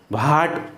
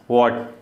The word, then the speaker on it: what: For example WHAT, तो भाट नहीं होगा, ठीक है ना, वॉट, WHAT, तो W के बाद H आने पे W का साउंड होगा पर एच वहाँ पे साइलेंट रहता है। ये एच जो है ये साइलेंट है, WHAT।